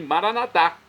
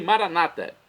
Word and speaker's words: Maranatá: Nós dizemos assim, Maranatá, pronúncia com a tônica na última sílaba. Ou nossos irmãos separados das comunidades evangélicas ou protestantes, que dizem Maranata.